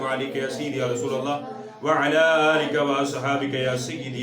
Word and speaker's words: اللہ: خود تیار کریں گے۔ اللہ اکبر، اللہ اکبر، اللہ کے لام کو موٹا کریں۔ اللہ اکبر، اللہ اکبر،